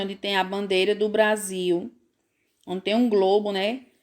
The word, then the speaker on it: Brasil: Se escreve apenas com um R só, né? No meio das vogais. E a palavra Brasil, vamos ver como é que se escreve? Olha aí a palavra Brasil, certo? É entre consoantes, né? O R, ele tá entre as consoantes. E aí esse som fica diferente, ó.